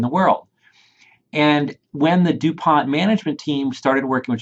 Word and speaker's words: DuPont: all of this together with something called the DuPont ratio analysis framework hey is this the same